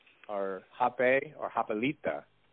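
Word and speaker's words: rapé: ceremony, one is called rape, or hape, or hapelita. It's spelled R-A-P-E, like rape, but an accent on it, so don't get it confused with the way it's spelled.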